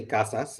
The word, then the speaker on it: casas: means houses right so i would say casas i would pronounce that final consonant where let's say a